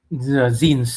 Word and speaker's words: zine: Zines. It's zine. It's pronounced It's zines.